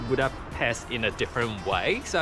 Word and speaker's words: Budapest: So, the correct pronunciation of Buddhapest is Buddhapest. So any S that you see in Hungarian is pronounced as sh.